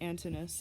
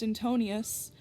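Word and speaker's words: Antinous: story of hadrias and antonus i don't know if i said antonus right but it's it's not pronounced antonius so yeah the book is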